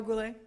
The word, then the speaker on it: Goulet: Do we pronounce it right, Carol? Carol Goulet?